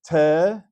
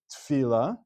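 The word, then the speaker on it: תפילה: It's te-fi-la. Why? Because it's a sheva under the first letter of a word, as we call it sheva berosh mila, a sheva at the beginning of a word, and it is pronounced as a sheva na. Some people might say this word as tfila, which would be making it a sheva nach, but that is not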